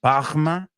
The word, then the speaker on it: Parma: it's made up in Parma, or as my friends there pronounce it, Bahma? They have like almost like a French R up there in some of the villages in Parma in that area.